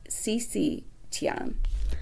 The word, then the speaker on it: Xixi Tian: place is still beautiful and the author she pronounces this CeCe Tian because I've heard other pronunciations for that first